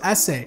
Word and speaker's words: SE: the rumored iPhone 5 SE was announced which is actually pronounced essay it will be 4